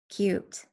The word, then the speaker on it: cute: the snake is cute cute has a U which is a vowel a consonant T and a silent e the e makes a you say its name they don't think that